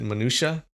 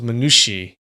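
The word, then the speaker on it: minutiae: Oh, so people usually pronounce it minutia. That sounds right, minutia. Yeah, that was one of the pronunciations that Merriam-Webster gave us. The other one was minushi. Minushi. Like I never heard of that before.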